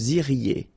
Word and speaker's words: iriez: Vous iriez. Remember, when you get this EZ at the end, you get the sound E.